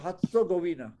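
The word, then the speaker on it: Herzegovina: तो बी से क्या बना बेटा, बोस्निया एंड, बेटा लिखते इसको हेजरगोविना है, हजरगोविना है ना, हेज़ेगोविना, और इसको बोलते हैं बोस्निया व हर्त्ज़ोगोविना। कैसे बोलते हैं, बोस्निया एंड हर्त्ज़ोगोविना, हेज़ेगोविना, हर्त्ज़ोगोविना। इसकी कैपिटल देखो बेटा, सारियेवो,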